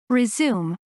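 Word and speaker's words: résumé: 시작하다 제기하다는 의미가 생겨나요 Resume Resume Resume 중단된 작업 활동 등을 다시 시작하다 Resume Resume Resume 중단된 작업 활동 등을 다시 시작하다 같은 스펠링의 단어가 명사로 사용될 때 그 발음과 뜻이 어떻게 되죠 a Resume a resum a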